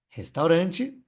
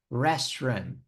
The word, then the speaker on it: restaurant: é um pouquinho diferente lembra que o r é bem caipira no inglês né Restaurant Restaurant depois a gente